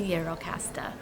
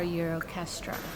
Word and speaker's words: Gjirokastër: All right, you guys, welcome to Gjirokastër, or Gjirokastra, or Gjirokastër, because everything in Albania is spelled 4 different ways.